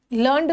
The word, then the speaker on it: learned: यहाँ लर्नड का मतलब होता है कोई चीज सीखना, और इसको हम पढ़ेंगे लर्नेड। लर्नेड का मतलब होता है विद्वान।